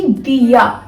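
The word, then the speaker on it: día: डी को हम कैसे प्रोनाउंस करेंगे? दे से। दे मतलब कैसे कि दिया, दिया का मतलब होता है डे, अ डे, ओके।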